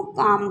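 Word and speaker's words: calm: फॉर the waves to काम down और मैं इंतजार कर रहा हूं फॉर द वेव्स लहरों के टू कम डाउन शांत होने का एल साइलेंट है।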